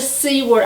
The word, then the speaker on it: Seward: Well, from there we went on to Seward. I think it's pronounced Seward, S-E-W-A-R-D, Alaska, Seward, Alaska.